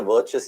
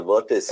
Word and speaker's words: Virtus: Why do I keep calling it the virtuous? It's a virtus.